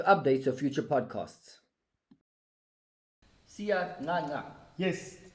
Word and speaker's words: Ngcangca: Sia Ngcangca. Yes. Am I pronouncing your surname right? You're pronouncing it right.